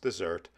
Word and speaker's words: Desert: Bar Harbor is the largest town on Mount Desert Island, yes, that's pronounced dessert, along Maine's Frenchman's Bay.